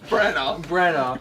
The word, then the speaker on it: Branagh: How do you pronounce his last name? Branagh.